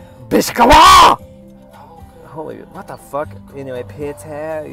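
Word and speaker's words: Beczała: __ ] what the it's pronounced biscala holy what the anyway Peter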